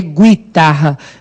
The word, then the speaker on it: guitarra: Se fosse, seria guitarra.